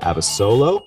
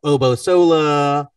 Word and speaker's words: Abasolo: You pronounced my name correctly. I get a lot of people that say Abasolo, Obosola.